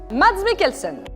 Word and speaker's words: Mads Mikkelsen: an actor as he is a stunt man mads mikkelsen whose name is apparently pronounced mads me kelson is an interesting actor who comes from a